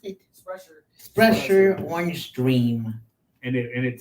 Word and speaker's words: Sprecher: How do you pronounce it? Sprecher.